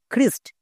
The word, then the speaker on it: Christ: Next আরো কিছু word দেখো, যেমন CHRIST, খ্রিস্ট। এখানে দেখো সিএইচ এর ঠিক পরে আর আছে, তার মানে সিএইচ এর জন্য কো হবে। তাহলে এখানে খ কেন হয়েছে?